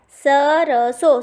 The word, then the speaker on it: सरसों: फिर सरसों, सरसों, तो इसमें कौन सा श लगेगा? स लगेगा, श नहीं लगेगा।